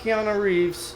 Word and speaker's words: Keanu Reeves: And I like Keanu Reeves.